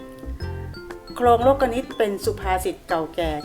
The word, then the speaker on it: โลกนิติ: ตาม คุณ ครู มา เรา จะ อ่าน ว่า โครง โลกนิติ นะ คะ นัก เรียน ไม่ ใช่ นิติ นะ คะ คำ ว่า